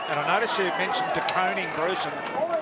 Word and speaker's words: De Koning: De Koning, Bruce, and that's the way his parents would like him to be pronounced. A lot would say De Koning, but everyone is, his parents want De Koning, so that's what we'll go with tonight, Bruce.